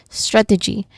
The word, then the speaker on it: strategy: Strategy. Okay, there's three distinct sounds here. First is the stressed syllable strut. So, this is a blend of three sounds, right? So, make sure to pronounce each one clearly but quickly.